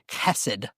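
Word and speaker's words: חסד: This word is pronounced chesed, and it means faithful love.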